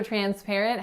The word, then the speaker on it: transparent: So transparent has 3 syllables. That first syllable is tran, tran. So notice that the TR letters are combining as tr, tr. It's as if it were spelled CHR, not TR, because of assimilation. So the T is not being produced here, it's being produced further back on your palate.